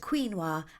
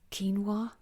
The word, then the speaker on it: quinoa: the crankies will only ever be able to pronounce the word quinoa as quinoa. It's quinoa.